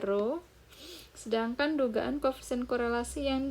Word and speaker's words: rho: Nah, kalau notasi dari koefisien korelasi pada data populasi, itu notasinya pakai rho, ini bacanya rho.